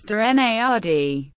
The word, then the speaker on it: Dennard: personal life denard's last name is pronounced as durard this pronunciation differs from that of his second cousin